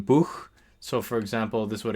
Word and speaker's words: Buch: So as in German Buch.